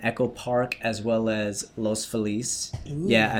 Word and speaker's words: Los Feliz: Leo was born in Los Angeles, Grew up mostly in Echo Park as well as Los Feliz. Ooh. Yeah, I said Los Feliz, not Los Feliz.